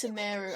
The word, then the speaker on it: Sumeru: to Sumeru City and Oh, it's Sumeru. I've been pronouncing it Sumeru this entire fucking time.